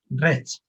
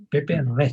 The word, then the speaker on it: Reig: Roig, le dice, Rech, Rech, Pepe Rech. Se ¿verdad? dice Es que acá tienen, Rech, Roch, como si acabara en CH.